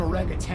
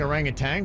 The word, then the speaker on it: orangutan: I'm going all in on orangutan. I think orangutan, but I think you're right, Denny's. Huh, that's weird. I've Yeah. always pronounced it with the N at the end.